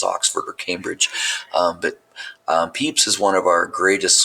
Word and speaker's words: Pepys: His name is pronounced Pepys, not Pepys.